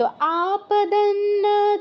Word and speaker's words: आपदन्न: ন চ পশ্যন্তি, आपदन অনুসার পর ন উচ্চারণ করে পরে আবার ন উচ্চারণ করতে হবে, ওই নটা কিন্তু বাদ দিয়ে গেলে হবে না।